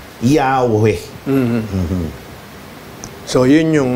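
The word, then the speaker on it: Yahweh: o pag pinagsama yung pinaniniwalaang wastong pagbigkas nito ay Yahwe.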